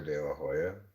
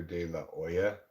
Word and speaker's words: De La Hoya: those films in Spanish I don't think they pronounce the letter H so it would be Oscar De La Hoya oh wow I pronounce it Oscar De La Hoya I find him particularly